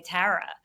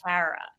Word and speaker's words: Tara: worse it's really the way I say my name I think this is which is the dead giveaway I say Tara and nobody everyone's like is it Tara is it Tara and I'm like it's Tara you know I think